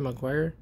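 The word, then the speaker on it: Meguiar's: That's how you pronounce it, Meguiars.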